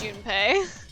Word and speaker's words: June: say his name correctly I was saying jume the entire time because it sounds like like jumpy but his name is June okay I love just